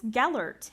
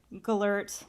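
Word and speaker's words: Gelert: I'll just say like I grew up calling it a galert and when I joined TNT everybody was like oh look at this Gellert and I'm like but that doesn't that doesn't work that doesn't resonate so so yeah I will continue to call it glert as a mispronunciation to everyone's disdain um but yeah sorry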